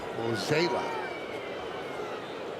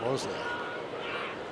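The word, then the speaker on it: Mozeliak: Now I'm 0 for 2 on pronunciations. What's the other one? The GM of the Cardinals, John Mozela. I think I said Mosley.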